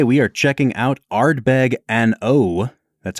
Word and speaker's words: An Oa: right so today we are checking out Ardbeg n o that's how it's pronounced Brad n o a n space o